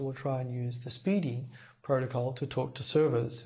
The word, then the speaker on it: SPDY: two now first of all this protocol called speedy spdy pronounced speedy speedy is an experimental protocol which is now being